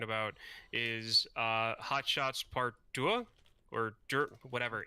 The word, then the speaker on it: Deux: It's French. You just swallow like most of the letters. It's just de.